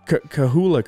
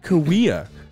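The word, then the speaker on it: Cahuilla: great great kawaii or creek or whatever right kahula creek is i think how i pronounced it dude i got hate how how i got hate on youtube it's pronounced kawea okay first of all if you want it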